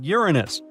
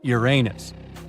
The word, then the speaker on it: Uranus: Well, we've been miscalling Uranus all this time. Actually, astronomers say we should be pronouncing it like Uranus, not Uranus. I can't say a different stress changes much, though.